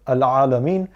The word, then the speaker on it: العالمين: And then finally we have Al-Alameen. Ain is obviously, as you know, a very guttural sound, and to remember to not too much prolong the ending of this verse.